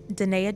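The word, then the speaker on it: Da'Naia: Well, no, it's phonetically spelled because, you know, everybody doesn't know how to say my name, so I had to go old school. I'll put a link in the description. Yes, regular for my Instagram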